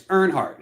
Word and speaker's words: Earnhardt: like this story now I said the name wrong it's Earnhardt it's Dale Earnhardt and Alex oh okay